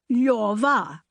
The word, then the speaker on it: Lyova: Position your tongue for an L, O. Then say yor, then say va, Lyova.